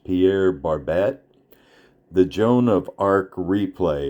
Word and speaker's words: Pierre Barbet: I think his name is pronounced Pierre Barbett.